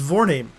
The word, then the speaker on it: Vorname: It's Vorname. Like forename, but with a V instead.